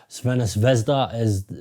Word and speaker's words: Crvena Zvezda: too much strength for Crvena Zvezda, which is the Serbian pronunciation of the name.